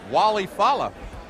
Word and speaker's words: Walle Falla: All right, well, Mark obviously taking the ethnic pronunciation, but he wants to be called Walle Falla.